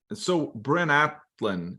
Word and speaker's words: Bryn Athyn: But fast forward, okay, so you played at the ACHA level in Bryn Athyn, is that how you pronounce it?